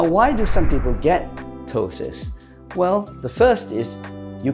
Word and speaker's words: ptosis: have Tois what is tosis it's p t o s i s it's not ptosis it's pronounced tosis and this refers to